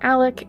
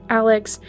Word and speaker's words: Alec: In my last covering, it appears that he pronounces his name as Alec instead of Alex, but I wasn't really sure until now, so we're just going to make that little correction.